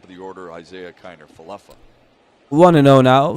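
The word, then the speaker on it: Falefa: then the top of the order isaiah kinder falloffa we want to know now for solac falafel oh okay it's falafel okay now i heard it see that's the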